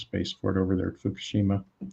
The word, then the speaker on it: Fukushima: for it over there fukushima or fukoshima as they pronounce it and already there was